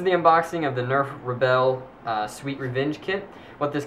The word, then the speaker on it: Rebelle: I believe the correct pronunciation of it is Rebelle or Rebel, something to that extent.